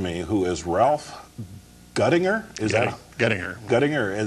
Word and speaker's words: Guettinger: So this gentleman sitting next to me, who is Ralph Guettinger, Guettinger, that's how it's pronounced.